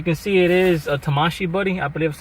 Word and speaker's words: Tamashii: And as you can see, it is a Tamashii Buddy. I believe that's how you pronounce it.